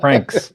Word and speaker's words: Francis: eye is silent oh the eye is silent Franks that Franks uh so I wanted